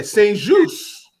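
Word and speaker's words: St-Juste: Benjamin Saint-Just. Is that how you say it? Yeah, Saint-Just. Yeah, I think it's French.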